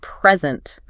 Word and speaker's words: present: But if you stress the second syllable, it means to give something.